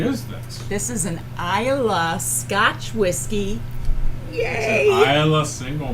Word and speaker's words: Islay: how to pronounce it when we started this more than 29 shows ago i would always say islay now i know it's an island single mall which means